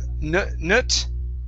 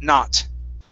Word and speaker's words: not: Okay, instead of nut, it's an ah sound, not.